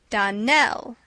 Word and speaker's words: Donnell: would set it right Donelle accent on the last syllable and st.